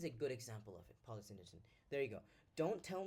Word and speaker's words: polysyndeton: This is like a very key polysyndeton. Did I do anything wrong? Deton. No, that's how you pronounce it.